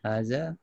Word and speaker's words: هذا: So satu lagi, haza ditulis without the double kan, tapi pronounce s ada dua harakah ya. Haza. Okay, haza. This is written as such, but pronounced as haza.